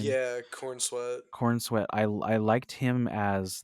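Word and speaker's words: Corenswet: Is that how you pronounce his last name? Yeah, Cornswe.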